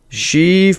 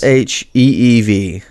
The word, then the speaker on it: Sheev: Sheev Palpatine. Yes. Sheev.